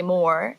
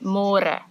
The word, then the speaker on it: môre: It's a little bit easier, but you have to remember to read môre because in English it's spelled like more. So don't say more, say môre. And the older generations of